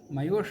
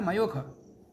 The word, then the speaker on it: मयूख: मयूष माने मयूख, खा कोई शाह के रूप में प्रयोग कर लिया और लोग करते हैं। सहस्रशीर्ष पुरुषाः, शाह को खाप कर लेते हैं, खा को शाह कर देते हैं।